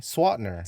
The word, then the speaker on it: Swantner: I don't know oh I don't even pronounce that one what you do what do you say swatner see that's what I'm